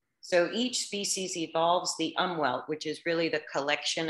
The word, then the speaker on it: Umwelt: So umwelt, let me just mention this because, and I'm doing the American pronunciation, umwelt.